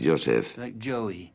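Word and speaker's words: Yose: israel yossi yo sí yo sé como joel pero yo sal no se oye nunca y tampoco se oye en el mundo antiguo diría yo la que se pronuncia así yo sé y saben donde oímos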